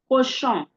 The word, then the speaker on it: cochon: The on sound. On. Don't forget the oral version of this sound is what? It's pronounced as what? O. O. Okay? But now that it's the nasal sound, it is what? On. You apply the pressure from your nose. Okay? On. On. Comme cochon. Cochon.